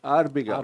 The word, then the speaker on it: Abergaus: Aloysio Arbegaus, se escreve exatamente como se pronuncia, né? Arbegaus.